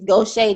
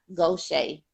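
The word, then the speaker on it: Gaucher: gift the attitude is Goshay disease it's not spelled like that because it's French originated um it's like go go Shea s-h-a-y Goshay those play disease yeah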